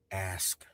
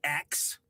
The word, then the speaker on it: ask: And for the love of God, the word is ask. Ask. Ask me a question. I'm an open book. Not axe.